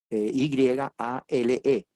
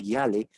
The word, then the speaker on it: Yale: El segundo evento, porque le dije que eran dos, sucede similar en la gran universidad puritana Yale, Y-A-L-E. Se pronuncia en español Yale, pero se pronuncia en inglés Yale.